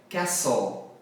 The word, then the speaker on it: castle: Aqui eu não falo o T, o som é castle.